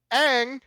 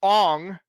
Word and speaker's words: Aang: live on air there were recordings of it aang who is the main character is pronounced ong in the movie okay general